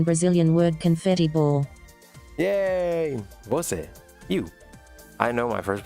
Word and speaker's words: Você: Don't pronounce it wrong. Oh, you. All right, let's see. Você. Você.